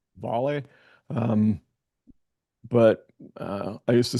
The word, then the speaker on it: Vale: Um, I actually think it's pronounced volley.